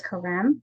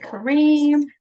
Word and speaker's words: Karem: I just noticed it's an M, not an N at the end. And it sounds like the accent is on the second syllable. Is that right, Karem? It's Karem, and I get that a lot. I get Kareem, Karem, and all kinds of different things.